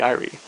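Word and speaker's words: Eyrie: of the errands of the iry or the Erie iie is the American pronunciation that I use and then there's an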